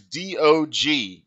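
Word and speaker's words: Deeohgee: for playing the contest their name is dog and it's not like dog they spell it out phonetically so it's d-e-e-o-h-g-e-e so d-o-g very clever indeed this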